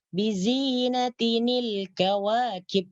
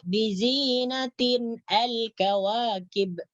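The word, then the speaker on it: بِزِينَةٍ الْكَوَاكِبِ: Bizinatinil kawakib. Jangan dibaca bizinatin al-kawakib. Ya. Jadi macam mana cara membacanya ini? Bizinatinil kawakib.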